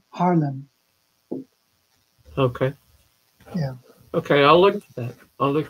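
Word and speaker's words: Haarlem: i v and uh harlan is h double a r l e m d harlem okay yeah okay i'll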